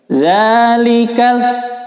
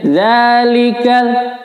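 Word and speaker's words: ذَٰلِكَ: Zalikal, karena ini mad biasa ya, ini bacanya hanya 2 harokat di ayun saja. Zalikal, kalau sudah lebih dari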